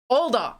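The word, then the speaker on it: Alder: why do I always have such a trouble pronouncing her name general a adult no general older older like older but older got it Oh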